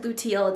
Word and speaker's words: luteal: And I said luteal, it's definitely pronounced luteal, but you'll start to feel a